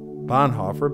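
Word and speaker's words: Bonhoeffer: heard of Dietrich bonifer Americans pronounce his name Bon hoofer but he was a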